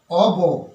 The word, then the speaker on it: of: অফ হলো কি না এর উচ্চারণ হলো অব এর উচ্চারণ হচ্ছে অব মনে রাখবে ও এফ অর্থাৎ ও সিঙ্গেল এফ এর উচ্চারণ অব এবং এটা কি হিসেবে